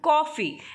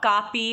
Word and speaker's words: कॉफ़ी: कॉफ़ी, इट इज़ नॉट कापी और काफ़ी, इट इज़ नॉट काफ़ी, इट इज़ कॉफ़ी।